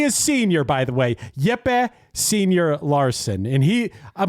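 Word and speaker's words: Jepe: Is this Jeep Larson? Jeep. It's spelled J E P E. No, it is not Jeep, man. It is Yep.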